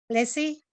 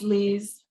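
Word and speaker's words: Lyse: L-Y-S-E. Lissy? Hi, it's Liz.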